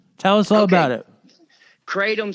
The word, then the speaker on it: kratom: us all about it kratom some people call it kratom you know you take